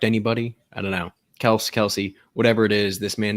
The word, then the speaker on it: Kelce: if you guys saw, apparently we've all been pronouncing his name incorrectly. Apparently it's Kels. And he and his brother never decided to correct anybody. I don't know. Kelsey, whatever it is, this man is consistent.